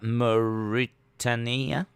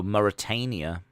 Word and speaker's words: Mauritania: to video game music here's uh maritania Mauritania oh Mauritania I was like mauritaninia totally butchered that one they look good